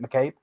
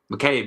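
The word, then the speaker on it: McCabe: you say her name Katy m is it mcabe mcab yeah mcab yeah she's got some good assists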